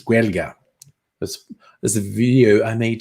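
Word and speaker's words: Gaeilge: Although if I pronounced it right, because my friend Franklin gave me the tutorial on how to say Irish in Irish, it's Guelga.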